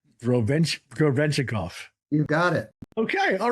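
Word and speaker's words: Гребенщиков: How do you pronounce Boris's last name? Grebenshchikov. Grebenshchikov.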